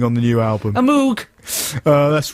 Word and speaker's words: Moog: friends are using on the new album a moog uh that's right it's pronounced moog incidentally okay uh janine uh what kind of